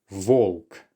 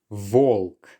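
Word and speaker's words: волк: Now do take your time with these because you will naturally want to say B when you see the letter, but just take the extra moment to realize that this is actually the letter V.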